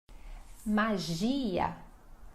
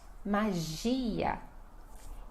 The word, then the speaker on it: magia: Magia. Magia. Então, olha só que tem o G, essa pronúncia, e também a ênfase é no G.